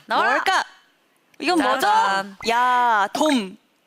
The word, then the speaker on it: 야돔: 야, 돔. 자, 발음주의. 야, 동쪽할 때 동 아니고요. 돔. 고척 돔 할 때 돔입니다.